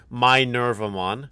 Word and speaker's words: Minervamon: safes as well also chat's telling me that's pronounced my nerve I'm on so if you think